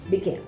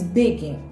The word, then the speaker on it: begin: Begin é um verbo que ele é também de duas sílabas, begin. E a sílaba tônica dele é a última, né? Nós não dizemos begin, nós dizemos begin.